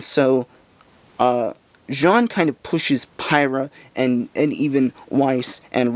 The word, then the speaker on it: Pyrrha: someone with power either pirate or cinder Pyrrha sorry I keep pronouncing it wrong to show him how